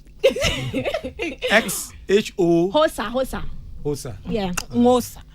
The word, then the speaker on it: Xhosa: Yeah, Hosa. The X is silent.